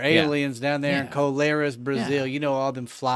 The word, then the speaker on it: Colares: Colares. Why don't you want to say it properly? Clarice. Clarice was down there. Colares. Colares. Down there in Colares. Colares, right? Brazil.